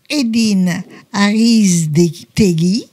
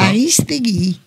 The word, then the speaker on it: Aristegui: Alors, j'ai mon invité qui s'appelle Edine Aristegui. C'est bien ça? Bonjour, oui, c'est ça. Aristegui. C'est ça, tu l'as bien prononcé.